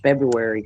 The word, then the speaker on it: February: ever heard that pronounced February correctly you actually pronounced the r February the first R yes you're the only